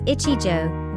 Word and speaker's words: ichijo: Pronounced as ichijo, where ichi means one in Japanese, and jo indicates a tatami mat.